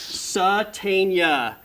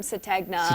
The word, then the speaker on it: Sategna: Satania. There we Yeah. go. I The remember. G is silent. I remember when I first heard that name, everyone, even the coaches were calling him Sategna, and Yeah, everyone yeah.